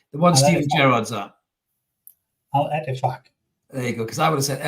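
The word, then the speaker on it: Al-Ettifaq: Al Ettifaq.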